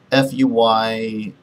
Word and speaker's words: Feyerabend: I can't really figure out how his name is pronounced. It's Feyerabend.